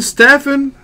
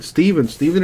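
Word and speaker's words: Stephen: Is it Steven Stefan? I mean, it's the way it's spelled, I just figured that the PH made an F sound, so hence the Stefan. Didn't mean no disrespect, my man. Steven it is.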